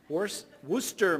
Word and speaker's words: Worcester: Terry grew up in Edina, Minnesota, and later attended Clark University in Worcester. Did I pronounce that right? Worcester. Oh, knew I'd massacre that. I'm thinking of the dark sauce. Worcester, Massachusetts, earning a degree in psychology and sociology.